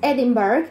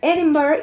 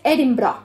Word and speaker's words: Edinburgh: Es muy importante esto, porque como está escrito, que es Edinburgh, mucha gente le dice así, que es una pronunciación incorrecta.